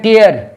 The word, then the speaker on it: tear: रहे हैं, पहले है टीयर, TEAR, इसका माने फाड़ना। टेयर उच्चारण करेंगे हम टेयर। इसका बीच वाला होगा टोर, TORE, लास्ट में होगा TORN। इसको अगर हम टीयर पढ़ेंगे, TEAR, तब हो जाएगा आंसू, तब हो जाएगा आंसू, ये नाउन हो जाएगा।